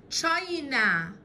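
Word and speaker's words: China: اسمها، تعالوا قبل ما نقول اسمها، هي اولها حرفين السي والاتش، والسي والاتش بنطقهم تشا تشا تشا، تمام. تشاينا تشاينا تشاينا، الصين.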